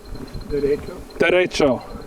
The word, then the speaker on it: Derecho: Derecho.